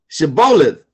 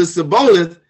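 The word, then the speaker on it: shibboleth: said they unto him say now shebolath and he said to siboleth for he could not frame not because for he could not frame to pronounce it right then they took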